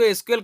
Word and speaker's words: SQL: अब इसको एसक्यूएल कह भी सकते हैं, लेकिन इसका जो प्रोनाउंस है वो सीक्वल है।